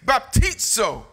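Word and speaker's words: βαπτίζω: And so the Greek word baptizo, spelled with a Z-O, pronounced like T-S or T-Z, baptizo.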